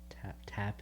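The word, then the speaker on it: Tapas: where's that posted on tap tap is i think how you pronounce it t-a-p-a-s and it's speaking around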